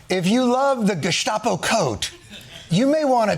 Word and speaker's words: Gestapo: that heated rhetoric calling law enforcement names like Gestapo. I'm sorry. Oh, I'm sorry. Could you Could you pronounce that again? You went FULL GUSTAPO.